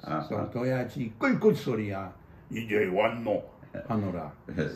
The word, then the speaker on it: 도야지: But what's wonderful is Gyeongsangdo dialect, instead of 돼지, which is 2 syllables, the word for a pig is 도야지. 3 syllables. So 도야지 꿀꿀 소리야 이제 왔노 하노라.